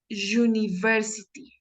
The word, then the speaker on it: university: Ah, esta palabra suena como, la pronunciación es university, university, university.